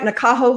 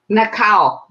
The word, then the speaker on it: Nakao: Am I pronouncing your name right, Nakaho Homes? Nakao. Nakao? Mhm. Homes. Yes, I'm Japanese, so that's a Japanese name.